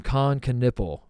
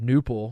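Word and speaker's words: Kon Knueppel: the exhibition game that Con Knipple pronounces his name Con Knipple. That can't be right, Tate. Tell me that's not right. Tell me I got that wrong. Phonetically exactly right, no? I thought the K would be silent and be like Newple.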